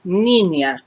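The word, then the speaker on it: niña: looks like well yeah use the ny sound that you use for the english word canyon the wiggly line is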